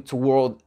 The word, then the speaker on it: toward: Comme je vous ai dit, le to devient te. L'accent tonique se fait sur la deuxième partie du mot.